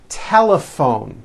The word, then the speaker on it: telephone: in that word laugh telephone notice the pH combination in that word is also pronounced as an F telephone it's the same thing